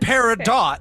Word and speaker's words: peridot: one yeah yeah good job Rebecca parado least pronounce it correctly it's par rul it's bonm and paradot that's like that's those are those are the